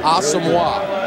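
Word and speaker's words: Asomugha: Think hockey. Patrick Wah, all right? Asamoah. Very good. Nnamdi Asamoah.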